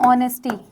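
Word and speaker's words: honesty: ऐसे मैं बोलूँ ऑनेस्टी, तो ये भले ही एस से स्टार्ट हो रहा है, पर इसका प्रोनाउंसिएशन क्या होता है, ऑनेस्टी।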